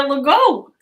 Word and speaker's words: Legault: You can actually pronounce it like the Lego blocks. So Legault.